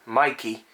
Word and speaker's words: Meike: It is made in China, of course, and the name is pronounced like the name Meike.